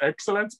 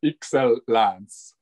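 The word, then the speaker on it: Excellance: says excel it's like it's not uh pronounced excellence but it starts with x actually the name so it's you have to remember that it's excel lance exactly and the flowers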